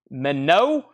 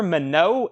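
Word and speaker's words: Minott: We have Sugar Minot Showcase, $49.99 from Jamaica. Boy, I bet that's good. Sugar Minot, M-I-N-O-T-T. I don't think that's pronounced Minot.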